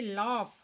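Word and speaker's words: laugh: तो यहां जो हमारा दिख रहा है ये लॉफ हंस रही है। तो लफ का स्पेलिंग होता है एल ए यू जी एच यू जी एच जहां भी रहेगा अंतिम उसका उच्चारण फ से होता है।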